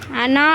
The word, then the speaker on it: أنا: அனா அப்படிங்கிறத அன அப்படின்னு தான் சொல்லணும். ஏன்னா இந்த இடத்துல ரஸ்முல் கத் சட்டம் இருக்குது. எந்த இடத்துல அனா வந்தாலும் சரி அதை நம்ம அன அப்படின்னு தான் உச்சரிக்கணும்.